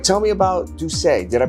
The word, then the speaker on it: D'USSÉ: have you here all right tell me about duay did I pronounce it correct yes duay that's is this is correct um we're really